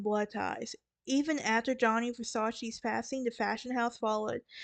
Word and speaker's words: Versace: layers said later is slow and clear it's Versace now Versace now that we talked about the